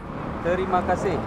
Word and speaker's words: Terima kasih: Terima kasih Terima kasih?